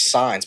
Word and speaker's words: Sainez: Like my buddy Gus, his last name's Signs, but it's spelled Sainez.